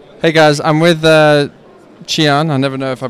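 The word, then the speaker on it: Chee Aun: Hey guys, I'm with Chian. I never know if I pronounce his name correctly. Yes, Chian.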